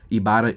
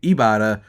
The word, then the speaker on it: Ibotta: The average Ibarra user earns $256 per year, which can cover an entire trip.